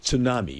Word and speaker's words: tsunami: You you know, there's a T in front of that word. It's pronounced tsunami. It's a Japanese word.